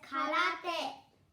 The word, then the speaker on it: karate: Now we are going to tell you that basically the word karate is originated from Japanese and it is pronounced in Japanese as karate. Kara means empty and te means hands.